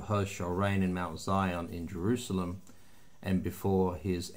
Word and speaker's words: Zion: will be reigning from Mount Zion or Zeon you want to pronounce it that and in Jerusalem and